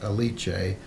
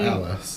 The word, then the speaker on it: Alice: Alice, which I think we were pronouncing it wrong before because we only realized in the last episode that everyone was addressing her as Alice, not Alice.